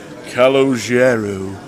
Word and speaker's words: Calogero: is another matter but his surname is calogero so there you go you said you got to be able to roll your arse as well to be able to pronounce his name properly which something hello yeah